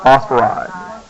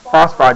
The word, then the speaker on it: phosphide: the last syllable but phosphorus just sounds funny when you say uh phosphoride phosphide just sounds better like oxygen you take